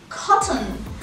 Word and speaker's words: cotton: فبدل ما بقول cotton انا بطلع بلساني علشان اقول حرف ال T اللي بقلبه همزة cotton cotton cotton cotton ball cotton.